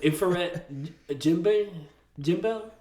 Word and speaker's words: Ifrit Jambe: The infrared Jimbel. That's how you say it. Ifrit Jambe.